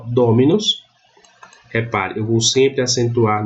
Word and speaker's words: dominus: Mas a pronúncia correta é dominus. Então, ela é uma paroxítona e nesse sistema aqui eu uso uma bráquia para indicar que a sílaba tônica é a anterior.